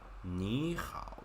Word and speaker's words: 你好: Like 你好. They just got 1/3 going down and up. Third tongue is in itself pretty hard to pronounce.